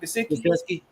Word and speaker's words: Gesicki: Gesicki.